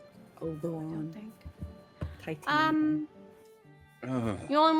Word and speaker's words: Oberon: I need to speak to Deianera Oh, and Uberon. that's not how it's said. I don't Oberon.